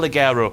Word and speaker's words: Guerrero: Guerrero why the F not El gerero that's how you say it since when has Kevin